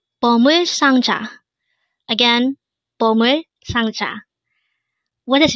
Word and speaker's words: 상자: It is pronounced as a two-syllable word. The first syllable is sang, second syllable is ja.